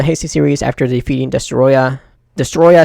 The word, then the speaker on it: Destoroyah: official yeah a distance we should also be pronouncing it destroyer since that what the dub cut yeah we could do